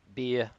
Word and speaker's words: Ber: the only other beer sorry beer beer is apparently the correct pronunciation but the only other